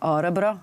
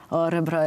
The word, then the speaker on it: Örebro: happy to go with my fantastic band to Örebro. I'm still working on my accent in Swedish. Örebro, I think it's still not good, and that's actually the only word I know in Swedish.